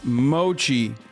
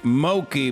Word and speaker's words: mochi: you don't know i know it's pronounced mochi but i'm saying moki because i'm i'm a